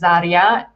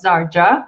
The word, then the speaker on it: Zarja: I come originally from Slovenia, and that's why my name is pronounced as Zarja, not Zarja, which is how an English native speaker would pronounce it normally.